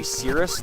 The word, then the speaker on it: Cyrus: I'm pretty sure the name is supposed to be Cirrus, like the cloud, but it's spelled Cyrus with 2 R's.